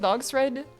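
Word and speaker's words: Dogsred: It's literally called Dog's Thread. It's spelled dogs red, but in one word.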